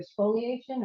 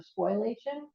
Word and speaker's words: spoliation: and I don't know there's two pronunciations either spoliation or spoilation and it's the idea